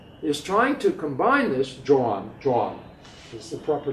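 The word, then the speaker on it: Joan: and then one is trying to combine this john john is the proper pronunciation he's trying to combine this with the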